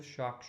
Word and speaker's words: chaque: CH pronounced together, and it's the same sound in English and French when you start to tell someone to be quiet.